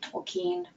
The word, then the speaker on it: Tolkien: never sure I mean Tolkien is a German name originally and so the emphasis is on the second letter een tokine I'm ready to nerd